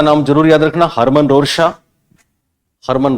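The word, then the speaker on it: Rorschach: Switzerland के लोगों के टी साइलेंट रहते हैं। क्या बोलो, क्या बताऊं? हरमन रोरशा लिखा है, रोरशा। तो ये परीक्षा में रोरशाक भी आता है, रोरशा भी आता है, ठीक है ना? जैसे पियाजेट में टी साइलेंट था, इनका कै साइलेंट करते हैं, रोरशा कर दो आप, खाली चलेगा। हरमन रोरशा।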